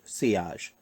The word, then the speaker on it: sillage: going to be talking about si OSH pronounced si o j-- describes the strength at